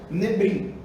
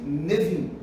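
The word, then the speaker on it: Nevi'im: São três palavrinhas, Torá, Nevim e Nebrim, ou Nevim, ou Ketuvim, tá? Que alguns colocam lá, na hora que vai colocar lá, na escrita, por exemplo, coloca Nebrim, mas lê-se Nevim, tá?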